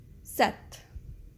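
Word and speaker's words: sept: english sees it's six set set set is seven we don't pronounce the p when we say set set with with it's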